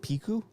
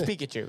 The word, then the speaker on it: Pikachu: here's my reasoning for is it piku Pikachu it's Pikachu it's Pikachu right you guys are saying Pika you guys were saying it right the first Pikachu I said I said